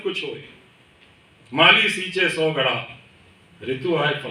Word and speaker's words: Godot: फॉर गॉडो, गॉड इडियोटिकली, गॉडो शब्द spelling है उसकी GODOT, गॉडोट हम हिंदी में भी इसका प्रोनाउंसिएशन करें तो, पर वो फ्रेंच में उसका उच्चारण जो है गॉडो, गॉड इडियोटिकली।